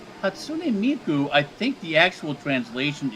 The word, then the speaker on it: Hatsune Miku: Hatsune Miku. I believe that's a Japanese pronunciation. Hatsune Miku.